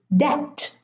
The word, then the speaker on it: debt: But in the word debt, the B is in the middle and there is no M.